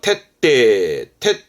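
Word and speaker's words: 徹底: 발음은 카이테 요거 가장 많이 보죠. 이건 철자라 철저입니다. 그러니까 밑바닥까지 철저히 모두 말이죠. 테떼 합니다.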